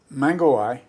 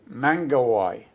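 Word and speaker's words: Mangawhai: Mangawai. Could you spell it? M-A-N-G. M-I? M-A-N-G. A-W-H-A-I. I-W-H-I-I. No. M-A-N-G. Yeah, A. yeah, W. yeah, H. yeah. A. A. I. I. So Mingihai. Mangawai.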